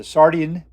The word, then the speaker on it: Sardian: And lastly, the Sardian. That's how you say it, Sardian.